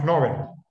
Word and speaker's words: Nobel: No, Nobel. Como el Nobel, premio Nobel por Nobel, cada como noble.